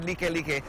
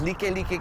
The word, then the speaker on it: Likelike: Now when people see this word Likelike, sometimes they say like, hey bro, let's go eat at like driving. But the importance of understanding the correct pronunciation of this word is because Likelike gets its name from one of our royals